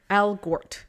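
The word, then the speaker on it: Elgort: eggert was like eager i don't know how to pronounce el gert there's an l in there yeah al gort elger al gort yes yeah um he was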